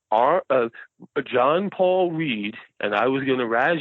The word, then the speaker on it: Ried: um it's German and in German you always pronounce the second vowel so hence why Stein